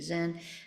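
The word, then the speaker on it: 禅: Korean it's Sun um we use the Japanese pronunciation Zen and in Chinese it's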